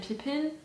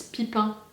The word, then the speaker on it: Pippin: It's making me think a lot of Merry and Pippin. I don't know how to pronounce it in English. In French, it's Pipin. Pipin, Pippin.